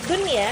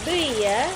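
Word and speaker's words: دنيا: Contohnya dun, ya. Nah, di sini ada nun mati dan ya yang bertemu dalam satu kata. Jadi tidak di tidak dibaca duya tapi dibaca dunya.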